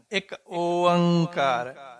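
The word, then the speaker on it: ਇੱਕ ਓਅੰਕਾਰ: ओंकार सतगुरु प्रसाद एक ओंकार नहीं कहना ं एक ओंकार क एक ओंकार कई तो वीर देखे मैं सुने व कह एक अकार सतगुरु प्रसाद जा क एक ओंकार सतगुरु प्रसाद इ बोली शुद्ध उच्चारण एक ओंकार एक ओंकार ओंकार एक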